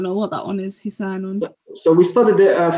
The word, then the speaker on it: حصان: So your Saad, I'm not the master of pronunciation, but your Saad sounded more like a scene. Okay. Hisanun. So it should be, there's a difference between Hisa and Hisa.